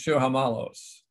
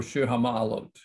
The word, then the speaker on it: Shir Hamalot: but it's, you know, we Ashkenazim, it's Shir Hamalos or Shir Hamalot.